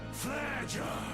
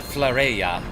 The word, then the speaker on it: Flareja: Flareja. Flareja. Okay, that's how he pronounces it. I wanted to know. Not Flareya.